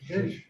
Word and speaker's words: zhuzh: Zhuzh, yeah.